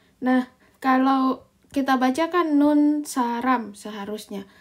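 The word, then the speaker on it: 눈사람: Jadi nun saram. Nah, kalau kita bacakan nun saram seharusnya. Tapi karena dia adalah bagian dari ini nalamanga, maka bacanya itu jadinya ini di double. Jadi nun saram.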